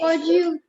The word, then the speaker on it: bonjour: We say, Bonjour. very nice. Bonjour. We say bonjour. Bonjour. J. It's not bonjour. J nahi hota. Okay. What is it? It's bonjour. Bonjour.